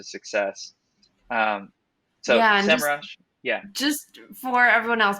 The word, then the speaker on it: Semrush: But it is not SEM Rush, which is what I've been calling it for 1,000 years. yes, It's actually SEMrush.